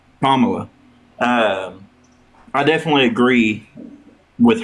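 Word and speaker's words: Kamala: Pommela.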